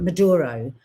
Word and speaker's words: Maduro: close to Trump that he was enraged by Mando Mandero. Am I saying it right? Manduro Maduro dancing taking the piss out of his dancing